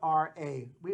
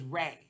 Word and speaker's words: Ra: is far is spelled r-a we always pronounce as raw in our language but in Egyptian they pronounce as Rey like like r-a-y like the sun rays so he was you